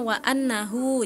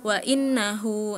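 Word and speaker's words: وَأَنَّهُ: dibacanya cantika wa eh ayatnya harusnya wa annahu. Jadi Cantika bacanya wa innahu. Nah, itu salah harakat seperti itu.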